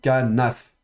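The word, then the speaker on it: כָּנָף: Et comme il est de nouveau précédé d'un élément vocalique, il sera fricatif, donc kanaf.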